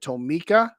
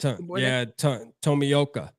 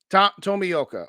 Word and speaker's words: Tomioka: Shout out to Nephew's brother, and I must probably butcher it, so you can correct me, but is it Tomika? Is that how you say it? Tomioka. Tomioka. Okay.